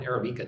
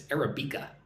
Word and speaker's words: Arabica: Navarrete says Robusta has twice the caffeine that Arabica does. It's not Arabic coffee, it's Arabica.